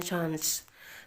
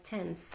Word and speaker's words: chance: Kalau orang Inggris bacanya chance. Kalau orang Amerika bacanya chance.